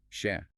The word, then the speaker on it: שֶׁ: They believe it comes from a much shorter, older relative particle in Hebrew, the letter shin, pronounced sheh.